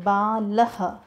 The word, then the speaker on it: बालः: So children, when we pronounce these words the एंड of this sound it's comes like uh, इज it like बालः. So end sound, a sound is coming, balah.